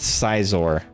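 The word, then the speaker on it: Scizor: And yes, it's pronounced Cizor.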